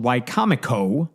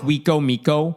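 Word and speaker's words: Wicomico: It's called Wcomo. I think I'm pronouncing that one right. It looks like Wiko Miko on paper, but it's Wcomo.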